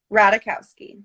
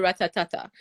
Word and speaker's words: Ratajkowski: How do you pronounce your last name? Ratajkowski. The J is silent. Yes. Okay, because I just call you Ratatata. Yeah, that's also totally acceptable.